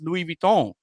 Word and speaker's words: Louis Vuitton: Vuitton is, but they don't know that it's Louis Vuitton. They don't know that they're not pronouncing it right.